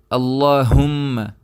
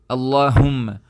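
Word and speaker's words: اللهم: it's at all so the proper way to say is Allah whom Allah whom and remember whenever this letter comes in the Quran you're supposed to pronounce it like not not huh so huh is it doesn't make the sound clear so try to take your voice as deep as you can and that will be the proper place of pronunciation of this word inshallah it this letter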